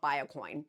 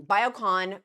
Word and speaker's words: Biocon: popular medicines the Ben gululu forgive me for mispronouncing that the company's called biocoin um biocon biocon is the first company to win UK